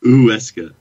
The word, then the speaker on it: Huesca: Huesca. You do it fast and plow through it, and you're good. Just don't add a W.